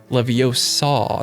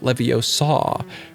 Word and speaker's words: Leviosa: As Hermione says, it's Leviosa, not Leviosa. Or how's it said, Hermione? Leviosa, Leviosa.